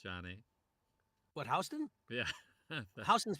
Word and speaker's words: Houston: Houston's pronounced Houston, unless you're Sam Houston.